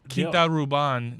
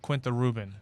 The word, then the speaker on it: Quinta Ruban: I also learned that it's Quinta Ruban, not Quinta Ruben.